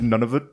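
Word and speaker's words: Nunavut: that's how it's pronounced I think it's none of it okay none of it none of it yeah that's theic that's what you say when you move there yeah that's the pneumonic device I learned for that none of it and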